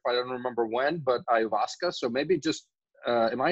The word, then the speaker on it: ayahuasca: I don't remember when, but ayahuasca. So maybe just am I even pronouncing it right? Ayahuasca. It's ayahuasca.